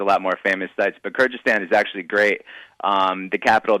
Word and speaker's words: Kyrgyzstan: Kyrgyzstan. Kyrgyzstan, is it? I'll give you another try, but it's Kyrgyzstan.